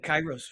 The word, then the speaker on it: Kairos: Kronos time and is it how do you pronounce it chyros you said chyros very well yes yes and Kronos time what's